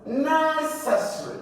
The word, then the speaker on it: necessary: Then the next one is necessary. It's the first syllable, necessary.